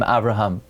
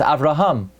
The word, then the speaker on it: Avraham: There is no name Avraham. It's Avraham.